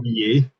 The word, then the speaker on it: Xavier: So Oh, he's that's how you actually a pronounce twin it, now. Xavier.